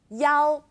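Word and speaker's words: 一: was saying earlier about the number 1 and its alternate pronunciation Yao first tone well yeah fourth tone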